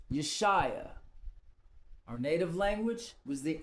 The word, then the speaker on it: Yeshua: It's not Yahushua, it's Yeshua.